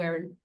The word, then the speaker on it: Aerin: Aaron Stoler: So, Aaron, am I saying your name correctly, because everybody is like Oh, it's spelled! Is this. Aerin, NCC (she/her): Erin, Erin, and Erin.